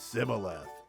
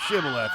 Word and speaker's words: Shibboleth: word, a special word, Shibboleth, which I guess is really hard to say because those Ephraimites pronounced it Sibboleth. And 40,000 Ephraimite Wilhelm Screebers who couldn't pronounce Shibboleth right died that day.